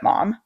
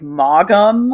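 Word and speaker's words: Maugham: Also, this, if nothing else, this book has given me the knowledge of how to pronounce W. Somerset mom, because in my head I'm always like, Mum, which I know is wrong.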